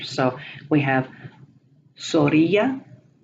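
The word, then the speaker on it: zorrilla: The zeta is the Z, and it is pronounced as an S, not as a Z. They don't have the Z sound ever. So we have Zorilla, paz.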